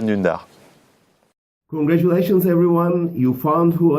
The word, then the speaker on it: Dündar: En fait, ça se prononce Can Dündar, et il est turc, et c'est un très grand journaliste.